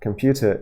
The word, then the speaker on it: computer: staring at one uh computer is a word that has three syllables right computer and in English there's only one syllable that can be stressed in this case it's this one right it's come come let's go